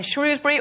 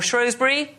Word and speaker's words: Shrewsbury: Here we are in Shrewsbury or Shrosbury. Yes, depending on how you say it as I've been informed.